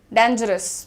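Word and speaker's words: dangerous: खतरनाक के लिए जनरली डेंजरस बहुत सुन रही हूं मैं आजकल, डेंजरस ना बोल के डेंजरस बोलिए, डेन, डेन इज the pronunciation everyone, right.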